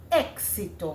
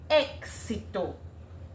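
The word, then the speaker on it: éxito: Exto. What do you hear? E x sorry ks. Exto. Even though it is e x, you are hearing the k and the s coming out.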